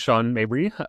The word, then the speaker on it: Sean Mabry: So, my name is Sean Mabri, uh, as Daniel correctly pronounced.